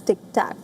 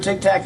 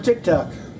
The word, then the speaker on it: TikTok: While boasting of his popularity on social media, he also repeatedly mispronounced the name of TikTok as Tic Tac. Listen in. Who's number one on TikTok? I am. I'm number one on TikTok.